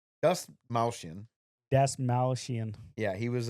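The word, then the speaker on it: Dastmalchian: David Das Malchian. Das Malchian.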